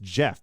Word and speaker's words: Geoff: Geoff, I know it's pronounced Jeff, but I'm going to say Geoff because it's with a G.